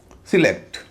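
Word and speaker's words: select: सिलेलेक्ट इसे कुछ लोग सेलेक्ट भी कहते हैं। लेकिन क्योंकि यह वर्ब है। रूल नंबर टू के हिसाब से वर्ब में स्ट्रेस हमेशा दूसरे हिस्से में पड़ता है।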